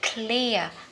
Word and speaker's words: clear: Clear, chữ K rõ ra nhé. Clear. Nhưng mà mình không đọc là clear nha các bạn. Cụm phụ âm á, hai phụ âm trở lên thì mình đọc liền ha. Clear, clear, âm ear nhé.